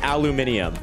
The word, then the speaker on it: aluminium: Somebody commented that I was pronouncing it wrong, but they spelt it aluminium. They said, you're pronouncing it wrong, it's aluminium. And I was like, you just spelt it the aluminium way.